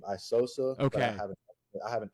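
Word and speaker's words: Aisosa: that how to actually spell it out and pronounce it all now you're good man so uh Instagram is my middle name isosa I have I have an X in the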